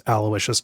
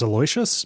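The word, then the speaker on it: Aloysius: in one of the chapters whose name is Alawishius Dawson. Um, and like the not famously, but on Abject Suffering, I mispronounced Alawishas as Aloyas because I had never I had heard the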